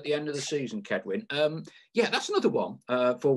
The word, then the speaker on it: Cedwyn: It is Cedwyn, yeah, but I think everyone presumes it's a soft, like, sort of sounding C rather than a hard C. Yeah, right. Okay, but for all Notts fans, just so we know, it's a K. Yeah, yeah. Think of it as yeah, a K, right.